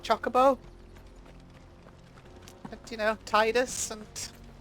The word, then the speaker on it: Chocobo: Not Chocobo. I think they pronounce it Chocobo in this game because they are going for an anglicised pronunciation because everyone's like medieval British. Everyone's from like Swansea. I think that's why they're doing it.